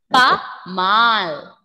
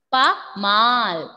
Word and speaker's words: pas mal: Yes, here S will be silent. Pa mal. Pa mal.